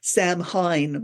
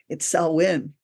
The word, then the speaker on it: Samhain: Although look at it, it's spelled Samhain, so it looks like Samhain or something like, but it's Samhain.